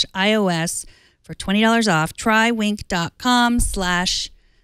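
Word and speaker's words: Winc: you to be happy wink WI n si pronounced wink sit back relax or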